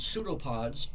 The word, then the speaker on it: pseudopod: So the first one are called pseudopods. It's pronounced pseudopod.